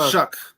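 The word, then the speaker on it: Shough: Shuck. Don't forget about It's spelled S H O U G H.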